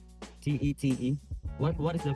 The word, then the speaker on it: Tet: T E T. What is the correct pronunciation?